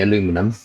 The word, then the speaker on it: aluminum: I mean, you can use aluminium or Americans say aluminum, and we say aluminium.